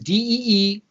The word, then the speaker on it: Deebee: The D and the B, it's not two initials, okay? It's spelled out. My name is Deebee.